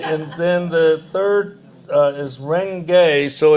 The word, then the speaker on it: Renge: Because I want to just go through the syllables first. Myoho, the mystic or wonderful law, the universal principle of life. Renge, the lotus flower which blooms and produces seeds, simultaneously symbolizing the cause and effect of Buddhahood.